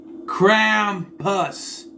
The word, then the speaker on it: Krampus: Krampus. That's how you pronounce it.